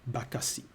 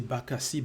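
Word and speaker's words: Bakassi: were talking about oil and people say bakasi. However, we don't say bakasi but bakasi which means those who have welcomed and now the business center of um in Duala.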